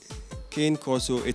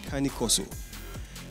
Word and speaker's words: Cane Corso: beat for us okay they they they name kane corso it's actually pronounced kanikoso the plural is a carnicosi and they descend